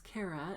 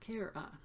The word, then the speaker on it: Cara: For example, a lot of people don't know how to pronounce my name, so it's Cara. It rhymes with Sarah, or I can say it's pronounced Cara.